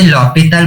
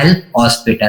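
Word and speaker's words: L'Hôpital: इसे लॉपिटल बोलते हैं, प्रोनाउंसिएशन इसका सही लॉपिटल होता है, लेकिन कुछ लोग किसे बोलते हैं एल हॉस्पिटल, तो प्रोनाउंसिएशन पे मत जाना है ना, मैंने बता दिया। इसका जो करेक्ट प्रोनाउंसिएशन होता है वो होता है लॉपिटल, एच इसमें क्या होता है, तो साइलेंट होता है, और कुछ लोग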